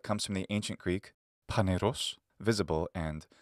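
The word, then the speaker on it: φανερός: Phanerozoic comes from the ancient Greek Phaneros, visible, and ζωή, life. By the way, I'm using the classical Attic pronunciation today. Modern Greeks pronounce these words Phaneros and ζωή.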